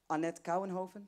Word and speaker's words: Kouwenhoven: And now it's time to invite Annette Kouwenhoven.